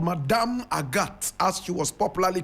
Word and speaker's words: Agathe: time yes will aat is AATA but in French we say aat a g a t